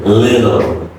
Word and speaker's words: little: Little, O, and T is a D soft D sound, little.